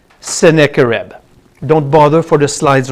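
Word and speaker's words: Sennacherib: one the invasion of seneca reb that's how you say it seneca reb don't bother for the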